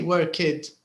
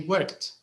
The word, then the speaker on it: worked: the pronunciation because uh even when you change the verb the pronunciation is not always the same uh so for example here started but here it's worked do you see it's a bit different we don't say worked we say worked worked and we say